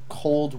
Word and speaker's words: cold: Cold winters. The word cold, make sure you put the D at the end.